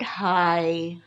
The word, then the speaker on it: high: example is the word high again the g at the end of the word are you getting confused but the sound is not an F sound this time it is silent g h so sometimes GH place